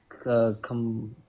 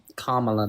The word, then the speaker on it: Kamala: Kamla. I don't know how to say Kamla. Kamala.